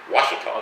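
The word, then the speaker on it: Ouachita: small town and the county how do they pronounce the county washita they do yeah not oakley do you know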